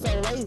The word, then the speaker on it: Soleil: Also, contact for Soulstar Entertainment is Soleil, pronounced Soleil Star, and Taisha Zevius.